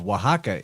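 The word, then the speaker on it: Oaxaca: people in their culture coming out of waka this word spelled o a XA CA while right there in the middle of Waka is I know they pronounce it different than what it looks like it's spelled so this might not be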